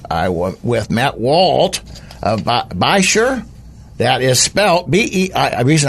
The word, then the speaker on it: Beishir: Louis Missouri area and I want with met Walt by sure that is smell Bei reason I keep saying